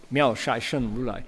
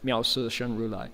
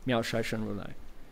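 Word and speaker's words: 妙色身如來: So, miao si shen, miao shai shen rulai. Shai is the Manchurian dialect pronunciation. Some people will recite it si, right? Miao si shen rulai, miao shai shen rulai.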